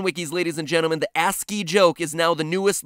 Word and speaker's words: ASCII: turned out to be ASC i i codes for different letters of the alphabet for those of you who don't know ASC I I codes or ASCII codes as it's properly pronounced the cringe is so